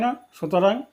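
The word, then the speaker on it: NASA: এস পৃথকভাবে উচ্চারিত হয় না। সুতরাং এর পূর্বে এন নয়। এ ব্যবহৃত হবে নাম্বার ইলেভেন ডশ নাসা এক্সপেরিমেন্ট এখানে নাসা একটি এব্রিভিয়েশন এবং এক্রোনিয়াম এটা এন এস এ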